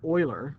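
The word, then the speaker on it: Euler: uh certainly known after Leonard Oiler that's how you pronounced it a Swiss mathematician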